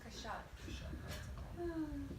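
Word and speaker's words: קשת: The keshet, right, the keshet. So the astrological sign is, But isn't Keshet rainbow? right, it's the arm. Well, Okay. that's a bow, it's the bow. It's pronounced kashat.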